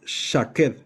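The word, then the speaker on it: שָׁקֵד: Almendro se pronuncia shaqued. Shaqued. Mira, shaqueted. Y es almendra o almendro. Literalmente es una almendra. Así se se escribe, shaquet.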